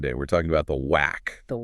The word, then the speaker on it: waqf: The word itself, whack. Sometimes you'll hear it pronounced whack.